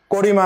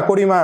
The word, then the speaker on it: কারিমা: ঠিক আছে এই যে করিমা করিমা না কারিমা করিমা না কারিমা হ্যাঁ